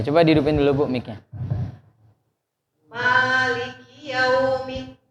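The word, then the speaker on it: مالك: Maliki yaumiddin. Nah, ma-nya jangan terlalu panjang, Bu ya. Ma-nya 2 rakaat.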